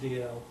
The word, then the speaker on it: Dalzell: Hi, I'm, pardon me, Steve DL, which looks like Dalzell, but it's pronounced DL. And that's Scottish, not Czechoslovakian.